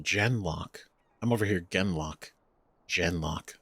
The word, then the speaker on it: Genlock: Oh, they're pronounced Genlock.